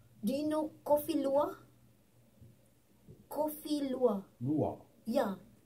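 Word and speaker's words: Kopi Luwak: Coffee lua. Lua. Yeah. Actually, it's coffee lua.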